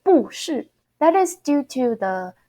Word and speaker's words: 不是: When the word after the 不 character, okay, the word after the 不 character is fourth tone, we don't pronounce our 不 as a fourth tone as it is shown. You actually need to pronounce it second tone. So it will be 不是 second, fourth.